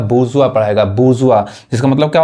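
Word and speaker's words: bourgeois: गलती पढ़ते हैं ये देखिए क्या पढ़ाए का बुर्जुआ पढ़ाए बुर्जुआ इसका मतलब क्या होता है जी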